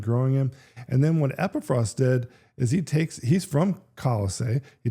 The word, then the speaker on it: Epaphras: And very likely it was during that time that a man named Epaphras, I used to call him Epaphras, but I think the correct pronunciation is Epaphras.